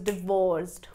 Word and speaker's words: divorced: Divided the word into two parts. and the stress will fall on the second syllable So how would you speak She is divorced He is divorced.